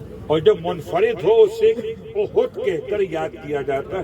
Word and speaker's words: احد: میں ہم چلے قبا سے پہنچے احد تک. احد، احد نہیں، احد. ہمارا تلفظ ذرا سا مختلف ہے.